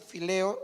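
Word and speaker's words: φιλέω: Por ejemplo, está el amor fileo, que en griego es así, fileo, la PH se pronuncia como F, fileo.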